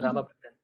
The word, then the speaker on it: Ramabhadran: So this is actually, in Tamil, what happens is many of these Samyuktaksharas are missing, so the spellings are all very skewed. So it's actually pronounced Ramabhadran.